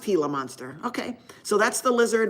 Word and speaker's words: Gila monster: It's Oh, it's pronounced Gila monster.